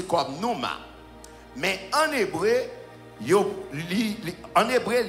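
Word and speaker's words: πνεῦμα: il v dire sauf ou bien vend il prononcé comme noma mais en hébreu en hébreu il dit c'est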